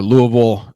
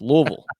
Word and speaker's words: Louisville: All right, some fun things here for our Louisville native.